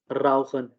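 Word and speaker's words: rauchen: रहे हैं, ठीक है, अगर CH से पहले जो है वो ये वर्ड्स हों, अल्फाबेट्स हों, AOU हो, ठीक है, तब हम इसको खा प्रोनाउंस करेंगे, ठीक है। CH इन वर्ड्स लाइक बाख, लॉख, बुख और राउखन, ठीक है।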